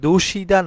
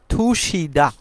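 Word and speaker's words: 드시다: মত উচ্চারণ করা হয়ে থাকে আমরা সেইম ভাবে দোষিদা না বলে এটাকে সঠিক উচ্চারণ হবে থুশিদা মানে হচ্ছে খাওয়া 148 নাম্বার প্রশ্নতে আমরা দেখতে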